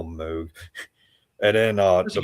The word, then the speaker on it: Moog: Top one's a model D modeled after the classic Moog. Moog. Well, I don't know how you say his name. I say Moog, but yeah, one word. I'm gonna call him Moog.